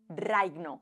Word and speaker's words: raigno: Es decir, cuando en dálmata vemos escrita una G y una N, se pronuncia como una G y una N. Reino en begliota es reigno.